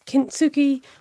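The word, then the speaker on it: 金継ぎ: is a bit more closer to the japanese um kintsuki which is um i'll explain what it says it's kintsugi or kimsukuroi i think is the how you pronounce it it's about repairing broken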